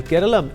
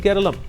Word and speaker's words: Keralam: of Kerala stated that Kerala is the colonial era spelling that became part of official records. While Keralam is the pronunciation of the state's name in the local language, the British could not pronounce spellings with names ending with M or N and they changed this as per their convenience. But in malalum it has always been keralum.